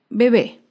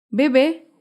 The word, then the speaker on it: bebé: Otro ejemplo es la palabra bebé. Bebé es una palabra aguda. Se acentúa en la última sílaba y lleva tilde porque termina en vocal. Bebé.